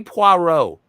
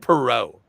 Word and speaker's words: Poirot: Say Poirot. I did say Poirot. No, you said Perot.